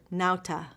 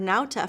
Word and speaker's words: nauta: one has one word nauta it means sailor do you recognize modern words using this latin root the book tells you the first syllable sounds like now and the author also